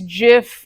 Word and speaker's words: GIF: I use GIF like Jim or like a J, right?